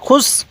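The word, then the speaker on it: خسر: ফি খ সিন পেশ খুস র দুই জের ঋণ খুস ঋণ ওয়াকফু করলে খুস র টা হালকা উচ্চারণ করব খুস এরকম ভাবে শিখবো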